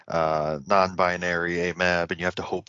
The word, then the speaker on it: AMAB: as for afab and amab those are um pronunciations of the acronyms a m a b for amab and a f a b for afab and they just mean assigned